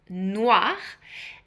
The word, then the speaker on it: noir: So noir is pronounced noir and uh it is uh the uh the one that is most sold.